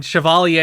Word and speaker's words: chevalier: and we deal with its consequences i mean chevalier is how you pronounce it that is correct that is the